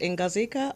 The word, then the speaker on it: Ngozika: actually how you pronounce your name yes it's pronounced in cazuca okay Kay okay socially conscious fashion designer now